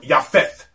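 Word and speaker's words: יפת: The word Japheth in Hebrew is the word Yafeth.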